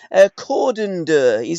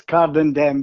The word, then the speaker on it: Cardenden: Cordon-Dur, is that how you pronounce the area that you were born, Tommy? I was born, strangely enough, it comes under Cardenden. Got ya. It's Cardenden, but I was actually